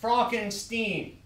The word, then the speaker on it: Frankenstein: break it Stein that's frankenstein' you're putting me on oh it's pronounced frogenstein do you also say fro trick Frederick why isn't it froderick broken steam is it it's Frederick frogenstein I see you must